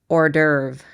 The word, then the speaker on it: hors d'oeuvre: But I think that Hudson says that he doesn't want to be a dragon's hors d'oeuvre.